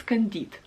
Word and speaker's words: Candide: i'm very sorry i don't know how to pronounce it so in russian it's candide so one more book was les miserables by